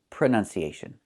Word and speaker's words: pronunciation: The word is pronounced pronunciation. We see the letter U there between the ends, right? That's a short uh sound like cup and up. Prenun. Prenun. So the two first vowels are the same sound.